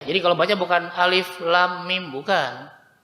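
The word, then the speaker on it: الم: surat al-baqarah minimal tahu alif.lam.mim itu apalah ya kan Hai ini bacanya Alif Lam Mim Oh ya cara bacanya begini bukan alamat karena yang bacanya pakai Iqro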